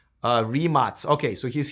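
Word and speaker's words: Rimac: Yeah, I've been pronouncing remats correctly, but I was not pronouncing it correctly when I was interviewing Mate Remats.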